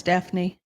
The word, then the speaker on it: Daphne: Oh, no, it is Daphne.